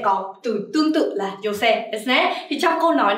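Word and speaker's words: 女性: Mình sẽ đọc là jose.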